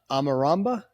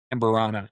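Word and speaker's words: Amburana: It's cuz I say it wrong. Amarama. Is that right? Amberana. Yeah.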